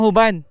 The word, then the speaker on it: Juban: Sitoyo po ng huban. Sitoyo po ng huban. Ah sige po. Baka kasi mali masabi ko. Huban pala. Huban. Thank you po. Ayun guys, huban nga siya. Huban and Juban.